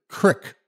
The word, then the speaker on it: creek: me we found that Creek I laughed not because of the content of the story but because I'd never heard someone pronounce it Crick before her head snapped up